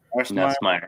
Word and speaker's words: Nussmeier: Nussmeier.